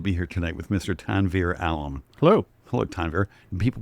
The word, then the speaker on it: Tanvir: My wife says Tanvir, which is how you actually pronounce my name, is the best way.